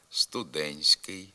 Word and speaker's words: студентський: вимовляються наводимо групи приголосних у яких буква Т пишеться але не вимовляється звук т зникає при вимові в групах нтск нтст СК пишемо студентський студентство туристський а вимовляти треба студентський студентство туристський також в